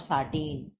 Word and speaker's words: satin: सैटीन और साटीन, मैंने हमेशा कहा कि आपको इंग्लिश वाले शब्द देखना है जहां स्पेलिंग हो SATIN, तो इसे हम क्या पढ़ेंगे? इसे हम सैटीन पढ़ते हैं।